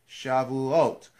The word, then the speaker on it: Shavuot: those either repeating it's Shavuot when you speak Hebrew the infant the exes the accent is always on the last syllable unless I say otherwise